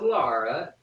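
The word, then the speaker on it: L'Ara: female named La ARA l a apostrophe ARA and this is Lara it's hot now you're gonna pronounce it Laura aren't you all right all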